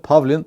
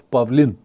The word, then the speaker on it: Pavlin: If you want to pronounce it correctly as it is in Bulgaria, it's not Pavlin, it's Pavlin. The stroke is on different end of the of the words, but it's correct.